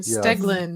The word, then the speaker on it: Stegelin: answer to the riddle of how do you pronounce steve's last name steglin it's a lifelong struggle totally yeah and one